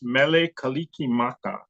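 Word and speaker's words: Mele Kalikimaka: give you so pronounce Mele kikim Maka Kiki Maka is like the Hawaiian version for Christmas and which they just took the English word and Tred to put it in uh hin phonetics so it's not a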